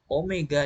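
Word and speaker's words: ω: delta theta sama dengan omega dikali T. Jadi yang seperti W ini dibacanya omega.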